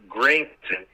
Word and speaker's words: Granson: It's Granson. So that's why I mispronounced that there.